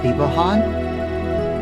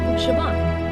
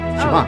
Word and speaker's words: Siobhan: So, yeah, I had the same problem with the name that I thought for years and years and years was Thibahan. No, Siobhan. Siobhan.